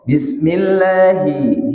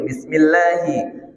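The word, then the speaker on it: بسم الله: Bismillahi, hi tak boleh masuk ke hidung. Bismillahi.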